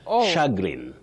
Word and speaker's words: chagrin: But please, the ch that diagram ch takes the sound sh. So you don't say cha, you say sha shagrin to the shagrin of